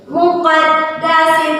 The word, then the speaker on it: المقدس: Muqaddas tuwa. Sinya tidak boleh dipanjangkan.